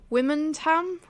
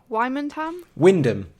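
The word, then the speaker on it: Wymondham: Wymanham? Wyndham.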